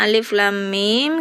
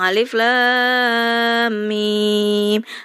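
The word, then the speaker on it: الم: ini berarti mengandung gunah makanya bacanya Alif kemudian lam lanya enam harakat kemudian guna dulu tiga harakat baru baca mimnya contohnya alif lam m jadi jangan langsung alif lam mim Tapi ada gunanya dulu Alif Lam Mim ya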